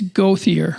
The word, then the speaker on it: Gauthier: Did I get the last name right? It's Nevaeh. It's Gauthier. I did say it wrong then.